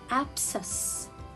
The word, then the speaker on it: abscess: comes after letter s i will not read it it will be a